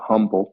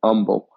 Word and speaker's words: Humble: in humboldt texas for those non-texans you might pronounce that humble yeah that's how it's spelled but in texas it's pronounced humble uh it's uh at thompson boulevard in fm